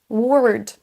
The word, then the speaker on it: word: Ça nous donne work, word, world. Pour chacun, on va traîner un petit peu sur la syllabe, mais c'est exactement la même prononciation pour ces trois mots.